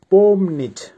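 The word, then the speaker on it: помнить: এর বাংলা হবে ওয়াশ করা বা ধোয়া ভার্ব পম নিচ আবারো বলছি উচ্চারণ হবে পম নিচ পমনিচ এর বাংলা হবে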